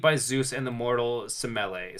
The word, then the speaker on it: Semele: He was conceived by Zeus and the mortal Semele. Smelly. Semele. I know it's pronounced smelly.